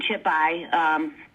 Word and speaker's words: Chippi: Yes, my name is pronounced Chippi.